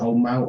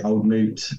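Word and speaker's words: Old Mout: I say it right is it old melt or moot moot moot yeah fruit okay okay old moot um and then probably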